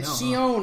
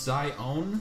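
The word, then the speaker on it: Xion: I know, Shion. I was right. I knew it. Her name's pronounced Zion.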